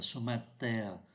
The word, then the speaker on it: chemin de terre: con đường bằng đất, và người ta cũng không phát âm mạnh cái từ ô này, người ta đọc là chemin de terre, chemin de terre.